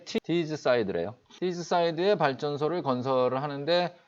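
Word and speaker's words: Teesside: 영국 테사이드라는 곳에 발전소를 건설하는데 이게 좀 대박을 칩니다. 이 발음이 티즈사이드래요.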